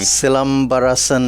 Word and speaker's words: Silambarasan: Again, the main star of this too, how do you pronounce his name? Silambarasan Rajendar.